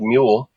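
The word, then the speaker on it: Muul: But yeah, it's called Mule. It's spelled M-U-U-L.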